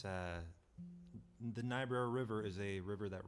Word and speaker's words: Niobrara: Now, how do you pronounce that word? So that is a Niobrara.